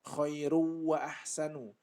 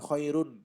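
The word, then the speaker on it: خَيْرٌ وَأَحْسَنُ: Jadi bacanya khairu wa ahsanu. Khairu wa ahsanu, ya, bukan khairun.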